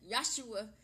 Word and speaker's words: Yeshua: you Joshua lives Oh Joshua lives I said Joshua Joshua Liz my god i'm mispronouncing it Yeshua Yeshua lives